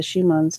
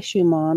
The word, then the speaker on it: Schumann: haven't seen what the Schumann's done I have to be that same and I almost people say it's Schumann but I say she mom because effectually the German pronunciation and Oh what in